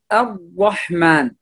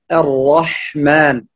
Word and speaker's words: الرحمن: فبعضهم يقول الرحمن الرحمن، وهذا خطأ، الشفتين ليس لها علاقة بالراء هنا نهائيا، الراء ليس من حروف الشفتين، فالراء هنا تفخم ويفتح الفم أو الفك يفتح إلى الأعلى، يفتح هكذا الراء الرح الرحمن. هذه الملاحظة، الملاحظة في كلمة الرحمن، تفخم الراء ولا تضم الشفتين، فلا نقول الرحمن، هذا أولا.